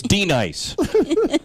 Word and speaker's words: Denise: she's all messed She's not even pronouncing her name right. It's D-Nice. D-Nice. That's her name. It's not Denise.